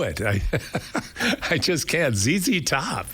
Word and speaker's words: ZZ Top: That's what they want it pronounced phonetically. Thank you. They wanted I'll call them ZZ top. That's what they want.